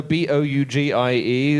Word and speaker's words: bougie: there was some right you know is it pronounced Boogie you know b o u g i e the sort of uh things bougie sorry there